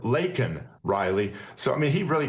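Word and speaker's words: Laken Riley: him an illegal but then mispronounced her name and called her Lincoln Riley instead of Leen Riley so I mean he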